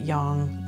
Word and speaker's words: yang: heard yin yang right the chinese pronounce it yang that's the way that